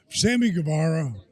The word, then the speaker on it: Guevara: But now I look at guys like Sammy Guevara.